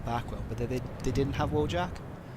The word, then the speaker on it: Wojak: but they didn't have Wojak or Wojak, as you're supposed to pronounce them in Polish.